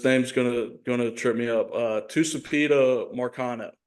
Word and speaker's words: Tucupita Marcano: Tucupita Marcano is how I'm gonna pronounce it. That's probably wrong.